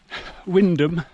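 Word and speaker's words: Wymondham: How do we pronounce them? Well, we already know about Stiffkey. And the other three, well, it's Tackleston, Windham and Haysborough.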